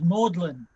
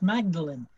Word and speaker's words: Magdalene: same in britain uh everybody knows i think that uh magdalene is pronounced maudlin but there are places where it is actually pronounced magdalene uh we used to